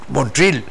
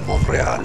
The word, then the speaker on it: Montreal: recibe a una delegación ya en Estados Unidos lo estarían pronunciando montril montril montril mon monre monre pero ya los canadienses han respetado la la estructura F Monreal Monreal Monreal eh eh que que